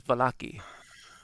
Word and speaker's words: Vallaki: That is Vallaki. Can you spell that?